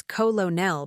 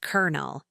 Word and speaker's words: colonel: You'd think it's colonel based on the spelling, but it's actually pronounced kernel, exactly like the popcorn kernel.